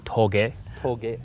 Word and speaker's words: touge: if it was actually Toge all I know is I want to go driving the mountains first of all the way you pronounce it is to Toge and this area we're